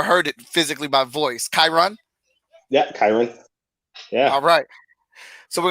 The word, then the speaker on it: Kyrun: and draw and I let me show him pronounced your name right cuz I've never heard it physically by voice chyron yeah yeah alright so we're gonna get the